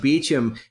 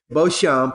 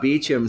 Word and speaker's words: Beauchamp: name spelled the same way but but but pronounced Beach him beheld another thing I'll say about that is